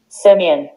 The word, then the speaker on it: Simeon: In Hebrew, is Shimon. Shimon is in Hebrew. Yeah. In English, is Simeon. Simeon.